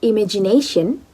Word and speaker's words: imagination: The word imagination, ne, has a primary stress, but there is a secondary stress in this word, ima, on the second syllable.